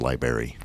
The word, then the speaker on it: library: to embarrass you but I think it's pronounced library library Li in our in our library of 103 episod Library you're right anybody that says July should say library I'll take out the r next time I'm sorry Library I